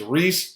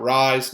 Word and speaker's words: Reese: Please pronounce his name right. His name is Reese, not Rise, not Rice, not something else.